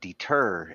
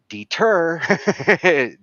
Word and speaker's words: deter: And recognizing problematic words like what he mentioned about deter, and that there is a certain part of that word that is the emphasis syllable.